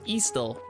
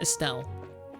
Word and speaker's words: Estelle: Some of us were pronouncing names wrong for like 7 games, and then they're like, actually, it's pronounced Estel, not Estelle.